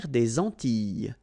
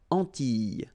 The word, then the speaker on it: Antilles: double L, S, okay, so final S and really you don't pronounce them, so you get this E sound, Antilles, okay, la mer des